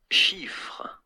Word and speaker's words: Chiffre: Chiffre.